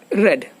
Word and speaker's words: read: The spelling is same, and it is pronounced as read.